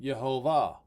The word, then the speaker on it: Yehovah: Not the Lord, but Yehovah." You see it right there. You see how it's pronounced.